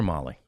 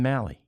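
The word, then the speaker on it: Mahle: So, Tyler Molly, although the guys were both radio and TV saying Mali, we got to ask him. Uh I mean, I was I was told it's Molly.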